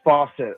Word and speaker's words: Fawcett: How do you say your last name? Is it Fawcett or Fawcett? It's faucet. Faucet. Like a leaky faucet.